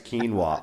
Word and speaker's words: quinoa: It's quinoa.